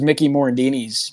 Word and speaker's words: Mickey Morandini: The first one I like remember details of, because I remember going, would be, I think it was Mickey Morandini's Major League debut.